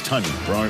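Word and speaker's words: Tonyan: Robert started the season as Tanya. Now he's Tunyon. Rhymes with Funyun, Steve.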